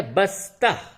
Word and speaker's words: بستہ: اس کے بعد ہے بستہ، بے سین زبر بس، تے زبر تہ، بستہ۔ بستہ یعنی بیگ کو